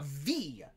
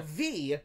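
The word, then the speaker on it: Viy: sequel to the 2014 russian fantasy horror blockbuster v which is spelled v-i-y uh in russia the film is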